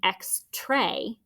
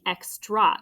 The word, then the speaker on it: extra: an open syllable but it's an exception because it's not saying x tray it's saying x draw with that schwa sound okay so double check